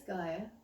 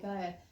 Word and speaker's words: Gaiea: he said, hey look, your name is Gaia without the consonants. So, and that's why it's spelt like it is, G-A-I-E-A, Gaia.